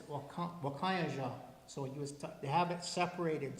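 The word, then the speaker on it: wakȟáŋyeža: It's Wakayaja.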